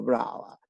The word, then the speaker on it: Broward: Entonces la R final no las pronuncio y digo Broward.